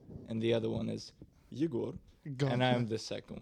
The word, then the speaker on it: Yegor: It's just like people say Igor, right? Which is like fine. It's a Russian name, but actually the correct pronunciation would be Yegor.